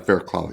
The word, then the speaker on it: Fairclough: And we're really pleased to have with us Fairloth. And did I pronounce that right? Farcloth.